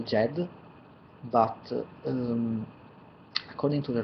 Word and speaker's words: Djed: of such a word so I pronounce it Jed but uh Zed is also acceptable and in general I